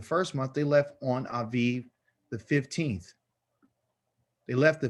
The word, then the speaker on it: Aviv: a hebrew word call aviv okay aviv it's pronounced with a v sound instead of a b sound but this is how